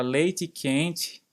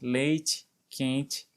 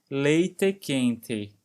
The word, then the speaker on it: leite quente: Por exemplo, enquanto no Brasil se fala leite quente, com som de i, no final das palavras, leite quente, em Porto Alegre, eles pronunciam com som de é mesmo, então fica algo próximo de leite quente.